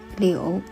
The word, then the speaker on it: 柳: The Chinese word for willow is pronounced 柳. It sounds very similar to another Chinese word, 留, which means to stay.